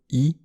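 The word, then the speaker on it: 意: Celui-là, qui veut dire pensée ou signification, a une seule prononciation, i, comme dans les mots chui, attention, et imi, sens.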